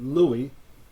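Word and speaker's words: Loewy: Raymond Lowy, or in Europe they pronounce it Louis.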